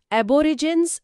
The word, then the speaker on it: Aborigines: ನಮ್ಮ 12ನೇ ಪದ ಅಬೋರಿಜಿನೀಸ್. ಹೌದು, ಇದರ ಉಚ್ಚಾರಣೆ ಅಬೋರಿಜಿನ್ಸ್.